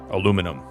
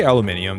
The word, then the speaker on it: aluminum: I say it like a Midwestern Michigander. Aluminum. It's like the most boring way to say it. Daz, you say it wrong. Daz, you say aluminium, dude.